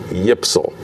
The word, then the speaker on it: YPSL: If you try to pronounce those initials, YPSL, you get Yipsel.